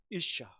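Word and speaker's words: אישה: 여기에 남자는 히브리어로 이슈고 여자는 이샤입니다. 발음이 비슷하죠. 그죠? 우리는 다르지만 같은 존재입니다라는 의미가 통찰이 여기 담겨 있는 거예요. 이름 진짜 잘 짓지 않아요? 이씨 이샤 그죠?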